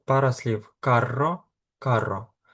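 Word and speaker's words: carro: Як ви побачили, у нас є пара слів карро, карро. Тому треба відрізняти по вимові, щоб слухач, щоб той, хто чує вас, зрозумів, що ви мали на увазі. Карро - це віс, і каро - це дорогий.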